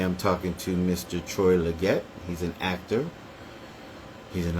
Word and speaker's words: Legette: How do you pronounce your last name? Legette.